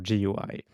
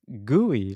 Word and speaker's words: GUI: They wrote, I also grew up pronouncing GUI just like Matt and Niléane. So GUI. By the way, I'm from Korea, and if you pronounce it Gooey like Chris, it means barbecue in Korean. Always messes up my brain when Ooh.